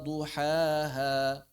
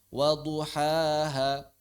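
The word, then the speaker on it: ضحاها: Wasyamsi duuhaha. Bukan waduhaha bukan begitu. Itu satu harakat.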